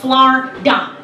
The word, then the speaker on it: Florida: You know, see, down here in Florida, yes, that's correct, it's 2 syllables, Florida. Florida.